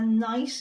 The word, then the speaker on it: knight: we've had words with silent K like a knight in a suit of